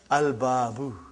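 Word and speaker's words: الْبَابُ: So I did pronounce Lam. Are you with me? I did pronounce Lam. But if the next letter is Ba. And it is written here, Al-Babu.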